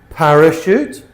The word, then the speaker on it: parachute: So they're spelled ch, but we pronounce them sh. Okay? Chef, chalet, machine, brochure, parachute, chaperone, chandelier, crochet, quiche.